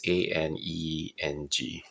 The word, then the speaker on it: Aneng: So this is the case here for, I guess it's pronounced Aneng. I'm quite sure how it's pronounced. It's Aneng.